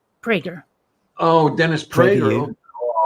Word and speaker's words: Prager: Do you say Prager or Praga? Prager.